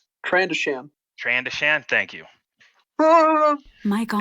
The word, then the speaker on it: Trandoshan: wrong on how you say it, but a Transrodian? Trandoshan.